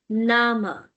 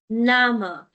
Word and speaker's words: Name: And in German, we say Name. Name. The spelling remains same, but the pronunciation changes.